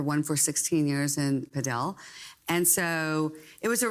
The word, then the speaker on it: padel: When we did the preview podcast, you were very excited about something called not paddle because you corrected me that I pronounced it wrongly. It's padell apparently.